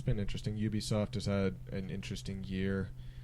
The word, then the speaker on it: Ubisoft: see new Ubisoft games Ubisoft however you pronounce it it is UB UB it is UB Ubisoft um yeah PlayStation blockcast